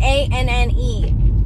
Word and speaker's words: Anne: too in there so i spell my name a-n-n-e which is pronounced anne but a lot of